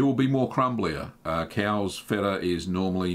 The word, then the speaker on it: Fettaq: That's why I kind of changed the name of my Persian feta, spelt FETTAQ. So it's pronounced feta, but the Q silent, of course.